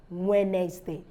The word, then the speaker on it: Wednesday: day no rather is Wednesday Wednesday because the day is not pronounced so it's not handsome because you think there are two words coming together no so he's handsome the D is silent then rule number two